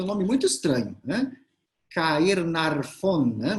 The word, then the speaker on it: Caernarfon: Caernarfon, né? Mas se pronuncia Carnarvon, muito esquisito isso.